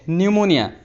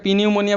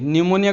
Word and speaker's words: pneumonia: তাৰ পিছত চোৱা এইটো PNEUMONIA নিউমোনিয়া তোমালোকে পিনিউমোনিয়া বুলি ক'বা নেকি নিউমোনিয়া ক'ব লাগিব এইটো ভিলেজত জিটোৱে জ